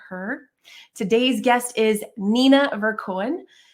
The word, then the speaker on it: Verkoeyen: Hope I pronounced that correctly again. With that said, Nina, I am welcoming you to the show. Hello, Nina. Hello, Kim. Yeah, you said it perfectly. It's a tricky name to pronounce, but you did it.